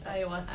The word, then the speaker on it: ayahuasca: You said, and this is during this horrendous, how do you even pronounce this? Ayahuasca? Ayahuasca, okay, yeah.